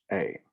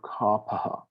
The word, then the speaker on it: Kapha: But it should be spelled normally Kapha. So no T there. So it's pronounced kapha or kapaha. Kapha or kapha.